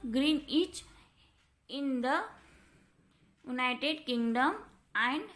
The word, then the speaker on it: Greenwich: It passes through the Royal Observatory at Greenwich, pronounced Greenwich, in the United Kingdom, and hence is also called the Greenwich meridians.